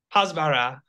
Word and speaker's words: Hasbara: And then you just took a trip with Hasbara group, or how do you pronounce it? Hasbara. Hasbara. Okay.